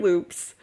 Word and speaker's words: Lupe: Like the most I've said is loops. Like, loops. Which honestly I told you don't call me that. And then now everyone calls me loops. And you know what the funniest thing is that they spell it Lupes. Lupes? Yeah, like lupus. Instead of like Loops.